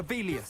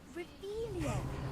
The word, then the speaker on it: Revelio: You're Rebellious. saying it wrong. Kira Revelia.